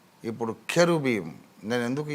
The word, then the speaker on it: cherubim: సో CH sometimes will be pronounced as K and sometimes it is cha. సో అందుకని మనోళ్ళు confuse అయ్యి కెరూబీం అనే దానికి వాళ్ళు KE రాయకుండా CHE రాసినందుకు కొంతమంది చెరూబీం మొదలుపెట్టి అదే స్టాండర్డైజ్ చేశారు.